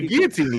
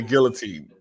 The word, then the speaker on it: guillotine: There's L's, but by now 2 L's make a Y.